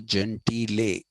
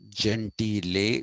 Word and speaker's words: Gentile: Uh, the work that is of relevance to us is the Summa Contra Gentile. It's pronounced Gentile, not Gentile. Though in English people do say Jew and Gentile.